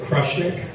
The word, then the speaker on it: Krushnik: We pronounce it Krushnik. It was probably Krushnik or Krushnik, when our ancestors came over to Ellis Island. That's my legal name, is Krushnik.